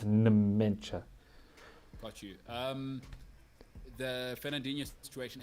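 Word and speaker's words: Nmecha: That wasn't me saying it wrong. That's his name is spelled with an N and then an M. So it's Mencha.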